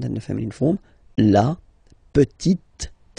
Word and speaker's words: petite: Le petit fils, and then the feminine form, la petite. So I insist because here it's t. Okay, so really you need to make the difference between the masculine form petit and then the feminine form petite.